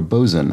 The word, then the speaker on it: boatswain: Back to a boatswain or a bosun, as I apparently it is always meant to be pronounced, even when it's not contracted.